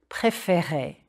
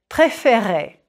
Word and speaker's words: préférer: Préférer. Smile a bit when you say those E accent aigu.